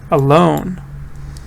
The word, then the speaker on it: alone: Alone. Stress is on the second.